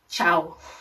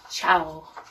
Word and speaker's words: ciao: not related to and then in italian it's ciao ciao so then how are you is so